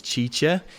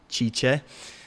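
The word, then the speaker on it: Cice: Her name is Chicha. She's going to be answering your questions. So you can go and say what's up to her. Her name is spelled C-I-C-E, Chicha.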